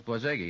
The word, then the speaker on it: Borzage: Frank Borzage, maybe that's the way it's pronounced. Borzage. Borzage. I think I'm wrong, too. It's Borzage, isn't it?